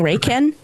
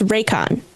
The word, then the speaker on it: Raycon: But I had to look up cuz I I was saying Raiken. Raiken, but it's Raycon. That's how you pronounce it.